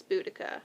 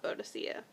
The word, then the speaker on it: Boudicca: when we grew up the accepted way to say her name is boudicca not bodacilla um because i remember